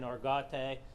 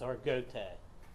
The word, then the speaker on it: Argote: It's some people's been saying Argote, but the family, it's Argote, is how they pronounce the last name.